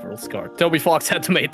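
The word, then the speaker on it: Rouxls Kaard: Yeah, his name is just rules card. It's pronounced rules card.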